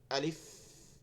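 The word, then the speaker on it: ألف: থেকে পে বাদ দেওয়া আলিফ না কি হবে আলিফ আর টান হবে না দ্রুত আলিফ আলিফ আলিফ দুই নাম্বার বা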